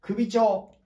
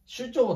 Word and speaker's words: 首長: んです続いて首長本当は首長と読むんですが首長だと分かりづいので首長という風に読みます呼びますえ県